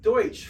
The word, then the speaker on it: Deutsch: EU or REU in German is Roy. EU is pronounced Oi. And Deutsch, which is the German word for German, EU is Oi, Deutsch, Freud.